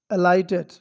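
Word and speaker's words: alight: ठीक है guys, next word है हमारा अलर्ट एंड अलाइटेड। ठीक, नेक्स्ट वर्ड है अलर्ट, अलर्टेड, अलर्टेड यानी चेतावनी देना, किसी को अलर्ट करना, अलर्ट करना, चेतावनी देना, राइट। अलाइट, यहाँ पे जीएस साइलेंट है।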